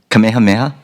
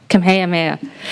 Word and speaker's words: Kamehameha: of school, and I'm going to mispronounce this, Kamehameha Schools, Kapalama. And Kamehameha, but that was good. Yeah. How did you say it? Kamehameha. Kamehameha.